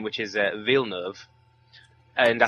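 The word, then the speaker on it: Villeneuve: earlier the only reason i know how to pronounce his name which is uh veal nerve and i said that veal nerve was a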